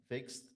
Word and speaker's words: fixed: الكلمة اللي فوق دي الماضي بتاع fix نطقها كده fixed fixed. سامع؟ مفيش أي كسرة بين صوت الإكس وصوت الد. fixed fixed.